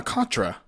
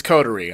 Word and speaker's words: coterie: A Contra.